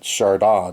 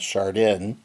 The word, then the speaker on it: Shardon: Shardon, not shard in that's how they say it in the game.